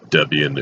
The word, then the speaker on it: Debian: am at the Connecticut Debian Center. Yes, I know Debian is the correct pronunciation, but after saying Debian for so long, I cannot know it by any other name.